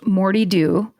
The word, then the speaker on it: Moddey Dhoo: My personal favorite is the Moddey Dhoo. Oh, sorry. Pronounced Mortey Doo.